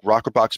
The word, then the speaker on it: rokrbox: step one if somebody wants to say look rocker box makes good sense for me I want to